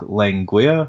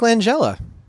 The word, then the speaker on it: Langella: like he has a producer played by Frank lengua or what's how you pronounce his last name the guy from Frank Langella Lakeland Joe there you go he's actually very